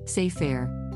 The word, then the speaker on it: sefer: terminology word sair as a Hebrew noun pronounced as sair meaning book this had me thinking what is the oldest record seir Torah ever found well oldest.